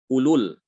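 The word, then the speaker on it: أولو: Ini juga sama ulul.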